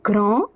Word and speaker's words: grand: The word grand, d at the end is silent, and it means big.